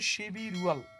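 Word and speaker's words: 십일월: তাহলে উচ্চারণটা হবে শিবি রুয়াল, নভেম্বর মাস।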